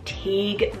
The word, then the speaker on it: Teague: the boy side is Teague spelled t-e-a-g-u-e TIG this is also another